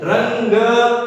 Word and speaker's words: रंग: इसको भाषा में अनुस्वार कहा जाता है और इसका उच्चारण भी नासिका या नाक से किया जाता है। रंग, बोलिए, रंग रंग और